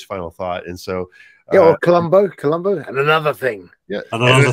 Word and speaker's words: Columbo: The English pronunciation, all right. The proper English pronunciation, Columbo.